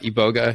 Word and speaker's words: iboga: a lot of people compare Ayahuasca and uh iboga yeah yeah that's that's you pronounce it but it's it's they they compare